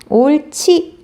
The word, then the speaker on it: 옳지: 2학년 옳지 잘한다 라고 할 때 뒤에 있는 히읗 받침과 이 히읗의 발음과 지읒이 만나서 거센 소리, 우리 가외계 원리할 때 거센 소리 배웠죠? 자, 거센 소리가 되기 때문에 얘 발음 어떻게 된다? 옳지.